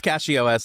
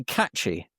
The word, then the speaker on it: CachyOS: How do you guys pronounce CachyOS? Let us know in the comments. So I never started even playing thought with of it about cache. Yeah, it makes sense. Yeah, I just say catchy.